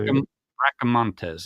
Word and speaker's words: Bracamontes: Luis Breantes, I believe that's how you say Breaka Montes.